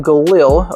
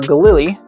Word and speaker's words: Galil: And it ended up being Israel Galil or Galilei is I believe how you pronounce it o over in Israel.